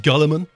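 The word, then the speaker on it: Guilliman: It's pronounced Gulliman.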